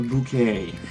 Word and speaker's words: Bucket: The main character in it is a woman called Hyacinth Bucket, who swears that it's pronounced a bouquet.